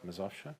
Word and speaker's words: Mazowsze: Yes, Mazowsze? Mazowsze, beautiful. Did I say it all right? Exactly. I'm always checking my pronunciation.